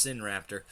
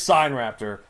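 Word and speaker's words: Sinraptor: Which I bet you pronounced Sin Raptor. Well, that's until I figured out exactly how it's pronounced. It is sign raptor.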